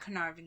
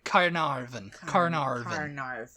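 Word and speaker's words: Caernarfon: quickly for people who because it's it's not the way it sounds a e r n a r f o n canary carnarvon carnarvon number five is the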